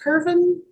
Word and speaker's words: Kirvin: Kirvin, County Attorney Jill Gillette for the state. Am I saying that correctly? Is it pronounced Kirvin?